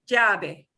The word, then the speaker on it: llave: Llama, sí, llave.